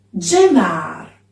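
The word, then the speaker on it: Zenâr: Si scrive con la Z, ma si pronuncia G. Genar.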